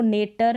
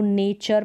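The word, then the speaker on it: nature: इसको नेटर नहीं पढ़ते, क्यों नहीं पढ़ते हैं, क्योंकि यहाँ पर टी के बाद में URE लेटर्स है, तो नेचर पढ़ा। तो यहाँ पर टी का उच्चारण च हो गया, इन सारी स्पेलिंग्स में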